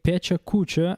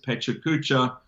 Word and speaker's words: Pecha Kucha: am I allowed am I allowed to say Pecha Kucha as I say it or you pronounce it the chalk chacha-chacha-chacha-chow yeah it's just